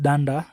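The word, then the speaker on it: dunder: The two double underscores are pronounced as danda, that's why I'm saying doc.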